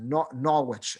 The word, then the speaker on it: Norwich: The people of Norwich, England, I don't know if they pronounce it Norwich. I think they just pronounce it Norwich, I think is how they pronounce it.